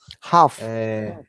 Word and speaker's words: half: Next one, it is Half. Remember, half this L is silent.